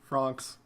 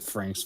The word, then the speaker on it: Franxx: Franxx. Franxx. I thought you said Franks for just a second.